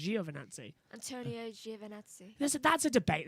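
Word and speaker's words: Giovinazzi: to pronounce because uh crofty does it as joe vernazzi joe martin brundle the ted kravitz is uh giovannazi but it's with us it's jio for nazis because it's a g it's italian it's jio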